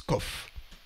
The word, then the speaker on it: Qof: en en araméen et en hébreu ça se prononce COF et en arabe aussi c'est la 19e lettre